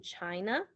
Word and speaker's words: China: afraid and out or you have the letter at the end like in china it usually has the uh sound instead of a okay so you will